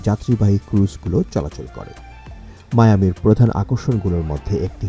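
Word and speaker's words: Miami: নাম নামে প্রতিষ্ঠিত হয় মায়ামি বাংলায় আমরা এটাকে মিয়ামি বলে বেশি পরিচিত হলেও এটার সঠিক উচ্চারণ মায়ামি এটি মার্ক্রিন যুক্তরাষ্ট্রের সবচেয়ে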